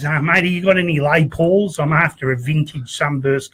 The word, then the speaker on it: Les Paul: A Les Paul. A Les Paul. The S is silent, you know.